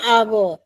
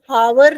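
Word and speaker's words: hour: था ना हमारे कि एच से शुरू होता है लेकिन एच का साउंड बोलते वक्त नहीं आता है। हम हावर नहीं बोल रहे हैं। जैसे हम हेट बोलते हैं। जैसे हम हाय बोलते हैं तो ह का साउंड आ रहा है।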